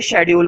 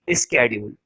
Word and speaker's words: schedule: लेकिन ज्यादातर बच्चों को आदत होती है शेड्यूल पढ़ने की, मेरे को भी आदत है कई बार शेड्यूल पढ़ने की, ठीक है, लेकिन सही प्रोनाउंसिएशन होती है इसकी स्केड्यूल।